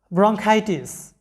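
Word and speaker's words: bronchitis: তারপরে আর্কিটেক্ট, লক্ষ্য করো আর্কিটেক্ট, স্থপতি বা নির্মাতা, আর্কিটেক্ট, এখানে লক্ষ্য করো সিএইচ এর উচ্চারণটা কি হয়েছে ক এর মতো হয়েছে। এরপরে দেখো যে আর্কাইভ, সংরক্ষণাগার। ব্রঙ্কাইটিস, এটা হচ্ছে একটা রোগের নাম, ব্রঙ্কাইটিস, এটা বাংলাতেও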